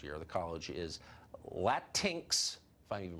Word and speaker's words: Latinx: I was recently yelled at on Twitter for saying Latinx. Apparently it's Latinx, but when it's a made-up word, I don't think you can pronounce it wrong.